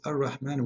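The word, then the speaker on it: الرحمن: It is Ar-Rahman with alif, not without alif.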